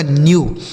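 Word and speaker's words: new: इस इडब्लू का उच्चारण यू। यही लिखा गया आपका न्यू एन ई डब्ल्यू न्यू डी से हो गया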